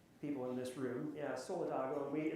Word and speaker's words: Solidago: in this room yeah solidago we there's multiple pronunciations we typically go with solidago but some people solidgo however however you want to say it it's the Latin